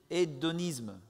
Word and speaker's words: hédonisme: É c'est un esprit d'édoniste ou hédonisme, c'est comme ça qu'on le prononce.